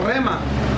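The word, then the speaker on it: ῥῆμα: es la palabra rema, una palabra griega que se pronuncia así, hermanos, rema.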